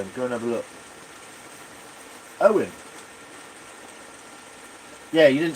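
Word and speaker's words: Eoin: Owen. Yeah, you didn't spell his name. Yeah, it it's spelled E O I N. So, yeah, it might be Owen.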